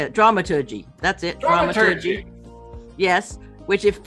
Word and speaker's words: dramaturgy: theater or roles in the theater or um dramatology how do you say it dramaturgy that's it yes which if you don't know